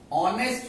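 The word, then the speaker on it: honest: अब ऑनेस्ट में देखिए क्या होता है, जब हम इसको प्रोनाउंस करते हैं तो ओ का साउंड आता है, ऑनेस्ट।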